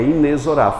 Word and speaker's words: inexorável: para eu ouvir é inexorável a gente pronuncia o x aqui como são de CS mas na verdade é um z Coloca aí por gentileza a pronúncia oficial na língua portuguesa é inesrar fala para o tio